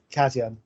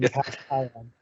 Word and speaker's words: Cation: And then the first question, Alan, is how do you pronounce Cation? Cation, as in Cation.